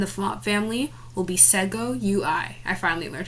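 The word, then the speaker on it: Segoe UI: And the font family will be Sego UI. I finally learned how to pronounce it.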